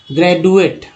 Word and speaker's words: graduate: अब जैसे ड और द लगा पढ़ते हैं, ग्रेजुएट, ग्रेजुएट। अब बताइए क्या उच्चारण सही आया? आप समझ सकते हैं कि ये जो है ज का उच्चारण यहाँ पर सामने आया, ग्रेजुएट, ग्रेजुएट, ज आया ना, ज का उच्चारण सामने आया।